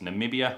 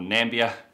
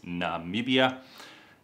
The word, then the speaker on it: Namibia: It's pronounced Namibia. A lot of people have trouble saying that name. I've heard of Namibia or Nambia. It is Namibia and it's a beautiful country.